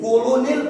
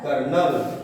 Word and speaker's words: colonel: इसी तरह से और जो हमारा होता है कर्नल की स्पेलिंग भी अक्सर लोग भूल जाते हैं, COLONEL, कोलोनियल पढ़ लेंगे तो आपको समझिएगा ये क्या है, कर्नल।